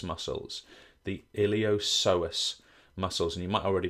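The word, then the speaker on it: iliopsoas: refer to as the iliosus muscles. The iliosus muscles. And you might already be thinking, James, what is that P doing in there?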